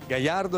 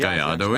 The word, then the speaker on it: Gallardo: Gallardo is richtig. Gallardo is correct. It's a Spanish name, a type of bull. It's pronounced Gallardo.